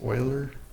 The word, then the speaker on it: Euler: a very famous mathematician you le are we pronounce Euler E is approximately 2.71828 and me actually has